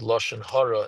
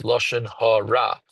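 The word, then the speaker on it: לשון הרע: try to say shehakol, just like the word lashon hara is incorrect. It's lashon hara. The word is ra, and the hey in the front of it is a prefix, so it doesn't go hara.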